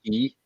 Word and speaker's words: Quay: It's in Australia, but it's spelled Quay. I think they call it Key.